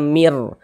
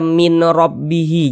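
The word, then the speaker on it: مِن رَّبِّهِ: Jadi bunyi nun sukunnya dimasukkan ke huruf ro. Kita baca mir, jangan dibaca min rabbihi, jangan, tapi dibaca mir, melebur masuk ke huruf ro.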